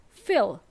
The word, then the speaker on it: fill: Fill. So it's a short E sound, fill. And if you want to use to feel, to say you have feelings, it's a long E sound. To feel something, okay?